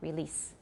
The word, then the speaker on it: release: So it should be S, and because it's voiceless, the E should not be too long. Release, release.